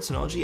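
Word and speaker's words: Synology: Samsung t7 shields uh have my own sonology Nas is how you pronounce that word sonology and an external drive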